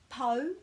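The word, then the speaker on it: pau: with kua and then this is po because the au is always o rhyming with the ko in kodi rhyming with the mo in monga so this is po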